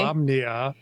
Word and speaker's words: Solamnia: What do you mean, Solamnia versus Solmania? Salami. Is it Sol? The many different ways he pronounced Yeah, it. I'm working. I wrote down Solmania and It's okay. Solamnia.